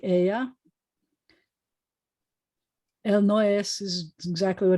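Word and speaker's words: ella: spelled like it's not it's spelled e-l-l-a e-l-l-a but it's pronounced like aya el noes is exactly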